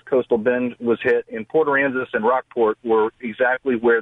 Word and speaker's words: Port Aransas: Oh, no, I mean Port Aransas. Did I get... Port Aransas is correct.